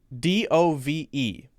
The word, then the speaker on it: dove: represents peace right so that would be pronounced how dove so that's sort of pronounced d u v uh uh dove dove